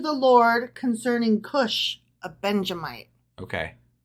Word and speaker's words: Benjamite: which he sang to the Lord concerning Cush, a Benjamite. Okay. Benjamite. I was trying to add in an additional syllable.